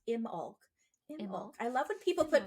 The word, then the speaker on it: Imbolc: Oh wait, pronounced Imbolc. Imulk. I love when people put pronunciations. Me too. Imulk.